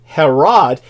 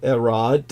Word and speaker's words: Herod: name Americans would say Herod um as areses can attest the Greek language the H is silent um but uh when it comes to erod and his uh his